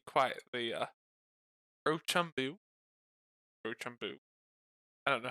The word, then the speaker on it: Rochambeau: pronunciation. I have never seen I that was word not before. prepared. Really? Yeah, never. Rochambeau.